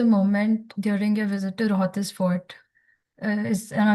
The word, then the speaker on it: Rohtas: So, there was a moment during your visit to Rohtas Fort. Am I pronouncing the name right? Rohtas, yeah.